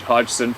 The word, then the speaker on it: Hodgson: Hodgson from Eastern Washington. The G in the name is silent if you use.